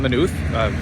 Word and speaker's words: Maynooth: Still in Maynooth, found out that's how you can pronounce it.